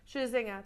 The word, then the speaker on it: Scherzinger: Scherzinger, there you go.